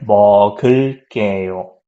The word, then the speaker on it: 먹을게요: So this G here, it goes there. So it sounds like 먹을게요.